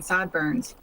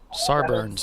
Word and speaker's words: Sarberns: Then it's Sarburns Autosports in 24th, Old Yeller in 25th, including some EC cars. Almost sounds like you're saying sideburns.